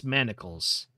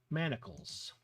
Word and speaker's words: manacles: At long last, you release your bicycle from its manicles. Then you decide not to worry about bike chains and bike keys for a while. Manacles.